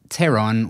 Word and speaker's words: pteron: The second part, pteur, from the Greek pteron with a silent p, obviously, means wing, same as the start of the word pterodactyl, which actually means finger wing.